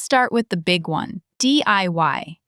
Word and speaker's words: DIY: Okay, let's start with the big one, DIY. It's pronounced DIY as letters.